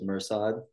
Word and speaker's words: Mirsad: think you said correctly the English version is perfect I usually introduce myself as mursad remember my family doctors